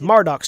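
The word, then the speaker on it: Marduk: been saying it wrong it's not Val Kira's challenge you've been drinking it's marducks challenge you've been doing Murdoch's job valtor's challenges the world room marducks challenges the drink yeah you drink all you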